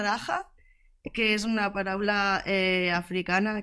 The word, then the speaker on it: Dagga: Daga realment es pronuncia Daja, que és una paraula africana que és Maria.